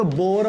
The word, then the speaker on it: Bohr: तो यहाँ पर सिर्फ बोर लिया गया, एच साइलेंट है यहाँ पर, तो एच साइलेंट रहता है तो बोर मैग्नेट्रॉन।